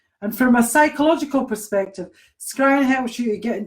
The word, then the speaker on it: scrying: So it's like crying with an S in front. Scrying.